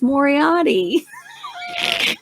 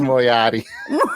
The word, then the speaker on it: Moriarty: It's Moriarty. This is Moriarty.